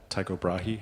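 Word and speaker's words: Tycho Brahe: of uh Chukra or Ta Taiko Brahi I think Americans say um as they are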